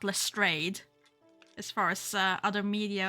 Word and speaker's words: Lestrade: And yes, Rumor, everyone else just pronounces it as Lestrade, not Lestrade, as far as other media of Sherlock Holmes.